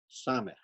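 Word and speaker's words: סמך: Samech. and it's with CH. Samech. Oh, sorry. That's how you pronounce it.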